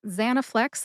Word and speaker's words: Zanaflex: Zanaflex, like many brand name drugs, only has 3 syllables. That's ZA, like the ZA in the name Tarzan, ZA, na, like the na at the end of the word banana, and flex, like you flex a muscle.